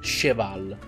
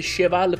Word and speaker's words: Cheval: detto il nostro amico cheval e ho scoperto che si legge sheval perché in giapponese è scritto sheval e non cheval quindi perfetto È passato